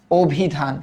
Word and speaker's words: অভিধান: ভি তারপর কি ধান অভিধান কেন কারণ আমরা জানি যে রসয়ীর আগে যদি একটা অধনি থাকে এবং এটা যদি নেতিবাচক অর্থে না হয় তবে ওই অ এর উচ্চারণ ও এর মত হয় অভিধান এটা পারার